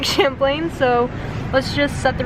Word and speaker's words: Champlain: town i've just been informed that i've been pronouncing um lake champlain wrong it's not lake champion it is like champlain so let's just set the record straight here